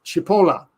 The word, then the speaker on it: Chipola: I keep forgetting this, but it's Chipola. I bet I was saying it wrong, John. It's Chipola, Italian, right? Chipola. John Chipola. That's how it is. And I used to say Chipola, but that was wrong. That's my English way of saying it, but Chipola is the right way.